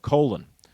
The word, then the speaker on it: Colin: demanded people call him colon even though his name is spelled exactly the same as the name colin c-o-l-i-n uh he stuck with his jamaican parents pronunciation of his name i'm sure in the